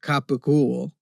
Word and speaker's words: gabagool: From the Neapolitan dialect, because a lot of C's in the Neapolitan dialect are pronounced as cheese. And then like mozzarella, you will drop the final vowel sound and you might just call it mozzarella.